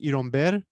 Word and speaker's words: Iron Beer: called Iron Beer, which in Cuba would be pronounced Iromber.